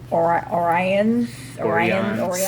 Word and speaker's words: Orion: today we're talking the episode The Pirates of Orion, which for some reason is pronounced Orion.